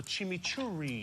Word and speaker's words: chimichurri: And I made something called a chimichurri. What is that? What is that? Chimichurri. Usually you roll your R's with it.